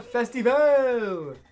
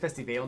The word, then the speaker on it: Festivale: to papi's boat viva festival i'm calling it festyvale now because i think i was saying it wrong nice the spirit of